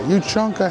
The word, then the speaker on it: ushanka: That's it, I think it's a Yushanka. That's the correct way, Yushanka hats.